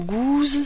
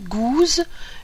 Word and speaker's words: Gouze: Alors Gouze, ça s'écrit G-O-U-Z-E.